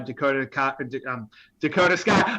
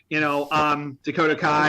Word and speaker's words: Dakota Kai: But it also promotes the 2 women she brought with her, Dakota Sky. I did it, Bayley. You know what I did? Shut up, idiots! I know, I said it wrong. Dakota Kai and Io Sky, just showcasing them.